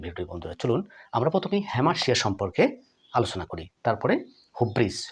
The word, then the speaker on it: Hamartia: অবশ্যই মাথায় রাখতে হবে আজকের টপিকটি কি বন্ধুরা হ্যামার্শিয়া হ্যামাশিয়া বা অনেকে এটাকে হ্যামাটিয়া উচ্চারণ করে থাকেন বন্ধুরা হ্যামার্শিয়া শব্দটি গ্রিক শব্দ এই